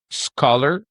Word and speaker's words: scholar: And the point of this is to understand SCH is pronounced as sk. We have the word schedule. We have the word scheme. We have this word, which we should pronounce scholar.